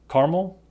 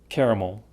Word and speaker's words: caramel: But at least 3 pronunciations are acceptable. Caramel, caramel, caramel.